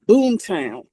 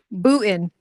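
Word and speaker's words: Boonton: It's Boom Town. Boom. I always get it wrong. Booten. The N is silent.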